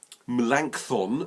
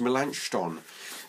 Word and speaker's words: Melanchthon: Reformation thing might Gabe melanchthon I think is pronounced mélenchon but I won't argue